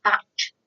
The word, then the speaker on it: Bach: I must say, some people do pronounce it batch flower yes, of course, remedies. I call it back flower remedies because that's the way I always, well, when I read about them and saw them, that's how I sure, started calling them. So, but just in case somebody wants to mention that that's not how it's pronounced, there are different ways, aren't there?